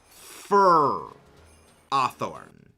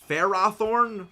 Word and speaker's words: Ferrothorn: differently than Ferrothorn but I will not say fur athorn it's Ferrothorn or Ferrothorn it is not Ferrothorn no it's